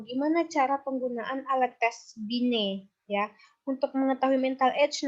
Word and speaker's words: Binet: Bukan Binet ya bacanya, tapi Binet. T-nya dihilangkan. Ya, mengukur intelijensi dengan menggunakan alat tes yang disebut dengan Sanford Binet Intelligence Scale.